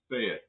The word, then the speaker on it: SEAT: Tavo says down here we pronounce it, say it.